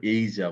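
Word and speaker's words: Asia: এশিয়ার উচ্চারণ কিন্তু ওরা এইজা বলে, হ্যাঁ?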